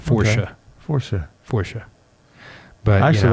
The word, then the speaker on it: Força: And they're like, Forca. And I'm like, Força. Force with an A. Yeah. Portuguese for strength. But it's actually, if you want, because of the little accent on the C, it's more of a sound.